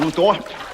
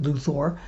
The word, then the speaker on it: Luthor: least more verisimilitude honest by pronouncing his name like a real-world name but the funny thing is nobody else got that memo so you'll find that not only does Ned Beatty consistently pronounce it Luthor but the only other person who pronounces his name in the movie also pronounces it Luthor that person being Christopher